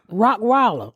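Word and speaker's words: Rottweiler: face how do you say rockweiler rockweiler huh rockweiler she said it right that's it that's it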